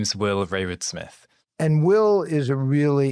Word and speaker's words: Rayward-Smith: have will and I'm gonna ask him to pronounce his own name exent fantastic to meet you Charlie yeah my name is Will Raywood Smith and Will is a really interesting mathematician who